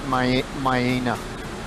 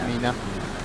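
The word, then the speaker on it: Miena: In Australia, we pronounce it Myena. Myena, not Mina.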